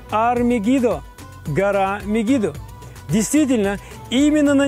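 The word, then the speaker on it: הר מגידו: деле ВС гораздо проще Армагедон на иврите произносится как Ар мегидо гора мегидо действительно именно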